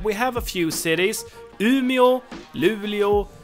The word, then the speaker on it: Umeå: I think it's a retroflex sound instead of that sound, and you don't have that O sound at the end. So Umeå and not Umeå, and Luleå, not Luleå, and Skellefteå and not Skellefteå.